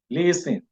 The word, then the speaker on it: listen: a result of which the t is not pronounced in the spoken form the t is silent we have seven words in this list ing so if I've been